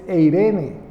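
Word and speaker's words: εἰρήνη: eignun, en griego, y la pronunciación en español es Eirene. Aquellas que se llaman Irene, aquí es Eirene con E, pero aquellas personas, aquellas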